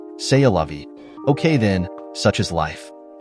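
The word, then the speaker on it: c'est la vie: her friends oh well say lovei I think it's pronounced say a lovei okay then such is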